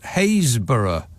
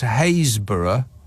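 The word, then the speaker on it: Happisburgh: r GH hausburg is hayborough how almost none of the letters in that word are pronounced after H you're on your own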